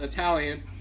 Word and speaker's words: Italian: heavily italian family and that's not italian is pronounced italian you don't go to idly so that drives